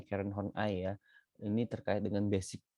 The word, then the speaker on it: Horney: Kemudian Karen Horney, bacanya Karen Horney ya.